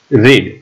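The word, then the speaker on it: read: तो दरेकनो भूतकाळनो रूप, plano play, टेकनो टूक, गीवनो गेव, टीचनो टॉट, रेडनो भूतकाळ रेड, स्पेलिंग ज थशे पण प्रोनाउंसिएशन रेड थशे, कटनो भूतकाळ कट, पुटनो भूतकाळ पुट।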